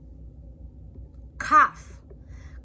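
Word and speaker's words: כף: Kaf. Kaf can be a K or a KH sound. Most cases, a kaf with a dot has the KH sound.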